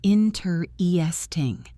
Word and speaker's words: interesting: But in natural English speech, the stress falls on the first syllable, and the middle syllables get reduced. The word is said as interesting or sometimes interesting, but always with the primary stress on in.